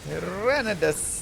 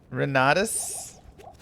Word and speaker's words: Renadus: Renidus, thank you very much. We'll go right there. You got my name wrong. What? Renadus.